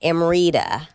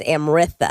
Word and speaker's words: Amrita: pronounced just like, like Amrita. Yeah. But in India, it's Amritha. Amrita. Yeah. Well, you get that nice TH You add with an just a H.